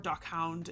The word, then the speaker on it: dachshund: And she didn't know what I said at first because I say it dachshunds. Um or dohound is like how you say it in like closer to German, not really German because I don't speak German.